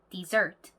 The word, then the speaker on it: dessert: 뒤쪽에 강세입니다. 그래서 dessert가 아니고요. dessert. 이렇게 뒤쪽으로 강세가 간다는 거.